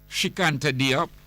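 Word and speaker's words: Cheikh Anta Diop: Diop is advancing that if we Shikanta Diop, his name is spelled Cheikh, Sheikh, Anta Anta Diop, Diop, Shikanta Diop.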